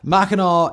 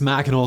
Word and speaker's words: Mackinac: Though it can be spelled with AC or AW, as Michiganers are fond of pointing out, Mackinac is always pronounced with the R sound at the end.